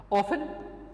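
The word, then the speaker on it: often: ऑफन it came, अब इस word को हम ऑफ्टन भी प्रोनाउंस कर सकते हैं, ये दोनों इसकी प्रोनाउंसिएशन ऑफन एंड ऑफ्टन दोनों राइट कंसिडर की जाती हैं, ओके।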